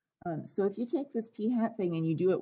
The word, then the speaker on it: p hat: Statistic is about the sample, and we don't call that p, we call it p hat. And yes, it really is pronounced that way by statisticians, p hat.